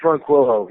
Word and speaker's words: Ronquillo: And excuse me if I'm pronouncing his name wrong. Is it Ronquillo or Ronquillo? Yeah, Chris Ronquillo.